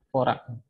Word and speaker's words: Dvorak: Dibuat oleh August Dvorak. Bacanya Dvorak. Seorang psikolog dari Universitas Washington di tahun 1930.